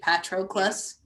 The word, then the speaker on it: Patroclus: But Achilles says his name in the 3 separate syllables. He's really trying to get it right. Patroclus.